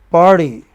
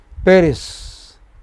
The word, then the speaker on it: Paris: Pari. Okay? Oh, sorry. That is French. Here, you know? Paris. So pay maybe 500 nanoseconds. While ris maybe much less.